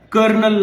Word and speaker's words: colonel: ಅಂತಂದ್ರೆ French influence ಆಗೈತಿ ಅದರ ಸ್ಪೆಲ್ಲಿಂಗ್ ಮಾತ್ರ ಇಟಾಲಿಯನ್ ಭಾಷೆದ ಉಳ್ಕೊಂತು ಸೋ ಸ್ಪೆಲ್ಲಿಂಗ್ ಕೊಲೋನಲ್ ಅಂತ ಹೇಳಿ ಅಂದ್ರೆ ಇಟಾಲಿಯನ್ ಭಾಷೆದ ಉಚ್ಚಾರ ಮಾತ್ರ ಕರ್ನಲ್ ಅಂತ ಹೇಳಿ ಇದೇ ರೀತಿ ಇನ್ನಷ್ಟು ವಿಡಿಯೋಗಳನ್ನ